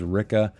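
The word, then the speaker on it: Rikke: Let us begin with a character that we begin the novel with, and that is Ricka. Rhymes with Pricka, as she says herself in the book.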